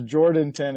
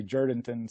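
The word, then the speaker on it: Jourdanton: also it's pronounced jurdington by the locals always pronounce jordanton and and the locals all say jordanton so so just fyi i'm sorry i didn't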